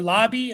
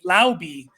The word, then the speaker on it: Laube: Dylan Lobb or Lobby, I always forget how to say his second name, his last name. But he's another player. I think he is rostered for a lot of people. That being said, Madison and Amir Abdullah are free agents for the Raiders. And Dylan Lobby is the only – Laube is how you say it.